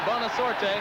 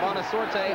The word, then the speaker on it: Bonasorte: He's down to the 16-yard line before Bonasorte, with help from Carter, was able to stop him. I said Bonasorte. I should say Bonasorte. The E is silent.